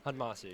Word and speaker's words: Admassu: Is that how you say Admassu? Admassu, yeah. All right, I was scared I was going to mispronounce it, but yeah, no worries, dog.